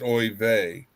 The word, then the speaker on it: oy vey: No, it's pronounced oy vey.